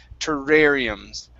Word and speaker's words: terrariums: that word terrariums okay don't think about rolling the r you're saying and you want to roll that r okay don't roll the r push your tongue down from the top of your mouth you don't want your tongue at the top of your mouth for the r sound to rare it's down at the bottom terrariums your terrariums that's better that's better okay yeah